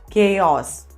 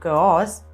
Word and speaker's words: chaos: heart and the next word is this it's chaos it's not cause it's chaos repeat after me chaos right let's